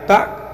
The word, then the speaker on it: tak: চাই তাহলে বলবেন saya tak pernah tahu, saya tak pernah tahu। কিন্তু লেখার সময় এই তাক শব্দটি লেখা হয়, কিন্তু উচ্চারণ করার সময় তা বলা হয়, তা।